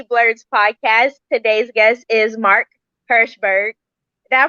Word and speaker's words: Mark Herschberg: back to she blurts podcast today's guest is mark hershberg did i pronounce that right you did okay thank you